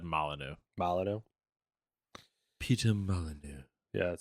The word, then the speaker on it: Molyneux: Molyneux, I think is how you say it. I've always said Molyneux.